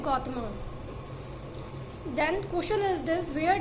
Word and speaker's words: गौतम: Question number 672, where did गौतमा? देखिए हम लोग लिखते गौतमा है लेकिन इससे प्रोनाउंसिएशन जो इसका करते हैं वो गौतम ही करते हैं.